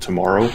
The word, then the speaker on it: TMRO: to a channel called tomorrow or they phonetically call themselves tomorrow but it's literally the four letters tmro and they do space